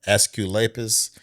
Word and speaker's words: Asclepius: How do you pronounce that word? I know it was called the rod of Asclepius.